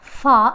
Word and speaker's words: far: just ah next word far far again in this word r is silent so r is in the final position here ah moving on